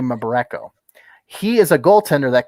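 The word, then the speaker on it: Mbereko: remember mabarenko member echo i can't pronounce his last name it's m-b-e-r-e-k-o m-borreco i'm gonna say my boreko he is a goaltender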